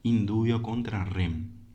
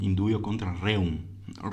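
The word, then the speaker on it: in dubio contra reum: Porque se estaría basando en una presunción indubio contra rem, ¿sí? Perdón, indubio contra reum. El latín, si el castellano lo oyen mi fuerza, imagínense el latín. Es indubio contra reum. Así como suena se escribe. No sé si se lee, pero se escribe así.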